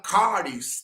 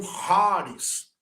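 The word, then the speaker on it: χάρις: que é graça favor Vale ressaltar que alguns pronunciam haris outro eh eh haris né n duas pronúncias Mas a nossa pronúncia é caris porque o ch é o k ele tem um som forte cultural Ok então está aí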